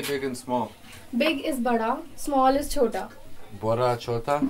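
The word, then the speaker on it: बड़ा: Big is bada, small is chota. Bora chota? Yeah. Bora chota. Bora is big? Bada is big. Okay, like B for big.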